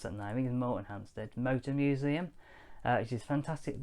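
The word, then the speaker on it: Moretonhampstead: days and we're gonna go to the most morton hamster like i never pronounced something i mean morton hamsted motor museum which is fantastic little motor museum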